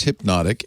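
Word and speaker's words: Hpnotiq: this alcohol it is it is pronounced hypnotic it's spelled weirdly h-p-n-o-t-i-q yep and it's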